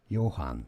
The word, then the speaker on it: Johann: Johann, alright, so it's not Johann or Johann. Alright, just replace the J with a Y.